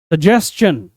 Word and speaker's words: suggestion: Next SUGGESTION, लोग इसको miss pronounce करते हैं सजेशन, सजेशन, बट ये सजेशन नहीं है। The correct pronunciation is सजेशन, सजेशन नहीं, सजेस्शन, सजेस्शन।